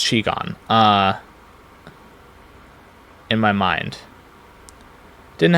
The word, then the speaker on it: qigong: I once was given the words hexagram and Quigon. Uh or Chigon. Oh, right. I I totally put it in parentheses what the pronunciation. That's That's like very funny. Um Yeah, so it's Chigon.